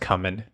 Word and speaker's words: cumin: And it's a tough one because it's not really like, it's not pronounced cumin.